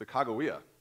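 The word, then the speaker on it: Sacagawea: this this week it's a kagia yeah it's a hard G the lmh high Shon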